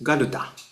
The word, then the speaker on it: Garuda: And then Garuda is Garuda. Yeah. And Kinnara, I think we pronounce as a Kinnara as well.